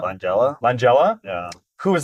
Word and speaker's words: Langella: Langela. Langela. Langella.